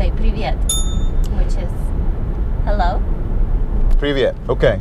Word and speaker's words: привет: So, привет, is that one or two syllables? It's two syllables.